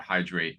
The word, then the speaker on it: Hydr8: Ralph, where can people find out more about Hydrate and yourself? Yeah, I mean, you can always go to our website, which is Hydrate, that's spelled phonetically, HYDR, the number 8, .us, hydrate.us.